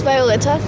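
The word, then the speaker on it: Violeta: My name is Vleta. V I O L E T A. Oh yeah. Is it Is that how you pronounce?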